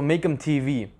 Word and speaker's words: MacamTV: So Macamtv, I'm sure that's how it's pronounced.